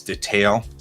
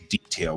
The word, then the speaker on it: detail: The UK is detail, and that's the emphasis on the second syllable. And the United States is detail, which puts the emphasis on the first syllable.